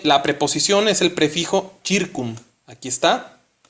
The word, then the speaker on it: circum: CI se pronuncia como chi. En latín aquí dice circum.